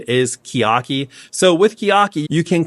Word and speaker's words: Chiaki: I looked it up and it says the official pronunciation is Chiaki.